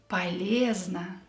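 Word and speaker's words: полезно: number six is paleozna paleezna useful or healthy ye is stressed so the first o and the second o will be pronounced as ah yeast over fructa eating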